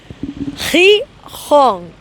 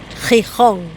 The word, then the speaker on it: Gijón: Gijón.